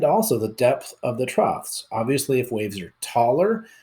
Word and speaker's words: trough: of the waves the troughs I know that's a weird way to pronounce that but that's trough that is the bottom